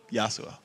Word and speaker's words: Yasuo: one final question actually how many more times you mispronounced Yasuo you see well Yasuo yo Suh okay yes you yeah there we go you're pronouncing wrong is yo Suh alright guys thank you